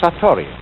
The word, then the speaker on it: Satori: is in Japanese in then it is called Satori I'll write that down it's an unfamiliar word